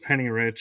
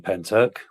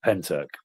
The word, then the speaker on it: Pentyrch: I'm thinking that's pronounced Penny Rich.